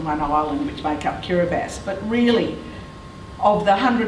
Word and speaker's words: Kiribati: and at baso and the thing that you very quickly learn about kiribati is that ti is pronounced so baso is spelled beto and of course kiribati is spelled hirabati but it's never pronounced that way so that's what it